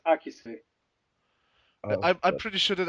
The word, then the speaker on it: Akise: just Akis would be the Western pronunciation, while the Japanese, the Eastern pronunciation would be Akise.